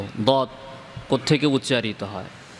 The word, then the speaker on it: ض: দদ উচ্চারণের সময় জিহ্বার আগাটা ভাসমান থাকবে, এটা ঠিক না। বরং জিহ্বার আগাটা থাকবে সামনের উপরে দুই দাঁতের গোড়াতে, চাপ দেওয়া ছাড়া। এভাবে দদ উচ্চারণ করতে হবে।